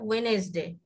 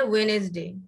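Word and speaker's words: Wednesday: একটা আমরা বলি ওয়েডনেসডে আর ব্রিটিশ বলে ওয়েনেসডে, একই জিনিস। হ্যাঁ, আমরা বলি ওয়েডনেসডে আর ব্রিটিশ বলে ওয়েনেসডে, কিন্তু উচ্চারণ একই, হ্যাঁ দিনটা একই, কিন্তু বানানে একটু বেশকম, ঠিক আছে।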